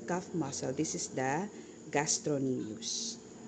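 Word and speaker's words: gastrocnemius: this is the cuff muscle this is the gastronomius it's spelled as gastroemius but it's pronounced as gastronomius so silenc okay and then you have the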